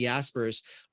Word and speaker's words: Jaspers: that put me under the impression it's definitely Jasper's but whatever it's Jaspers hey at the end